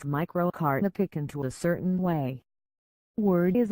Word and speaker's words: Picanto: its micro car to pick into a certain way word is it once the can't part to be said as you say canteen and definitely not in the way you'd say can't it's a positive perception